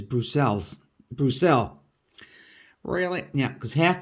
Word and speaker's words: Bruxelles: Yeah, in English it's called Brussels, and in Dutch it's English. Everybody says Brussels, and in Dutch it's Brussels, and in French it's Bruxelles.